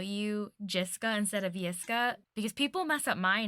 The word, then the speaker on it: Jiska: introduced you messed up and they called you Jessica instead of yesca so for like years I was calling you